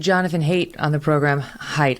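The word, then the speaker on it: Haidt: we just interviewed jonathan hate on the program height it's spelled hate but it's pronounced height um and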